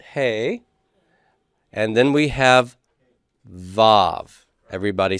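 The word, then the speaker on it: וו: bait gimbal dalet hey and then we have vove everybody say that with me vove and the vove is going to be a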